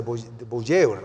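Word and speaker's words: voyeur: Es una palabra francesa de buur, algo así es la pronunciación.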